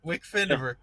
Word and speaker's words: WCF Invader: Wickfindiver.